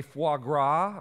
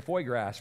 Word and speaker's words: foie gras: white Alba truffles a foie gras broth and yes that is how you pronounce it I had to look that up because otherwise it would have been for grass for this guy so I had foie